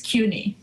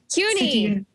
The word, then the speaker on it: CUNY: much for having me it's not SUNY by the way it's CUNY CUNY yes uh I go